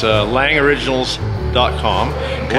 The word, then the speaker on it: Lange: It's Lang Originals. .com. Okay. Lange is spelled L-A-N-G-E. It's a Lange if you're German.